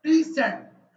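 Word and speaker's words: preset: Upload प्रीसेट वो प्रेजेंट नहीं प्री सेट और वो नाम जो ये फोल्डर का नाम था वो आपने यहां दे दिया।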